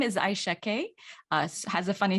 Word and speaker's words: Aixa: My name is Aixa Kay. Has a funny spelling. It's spelled Aixa.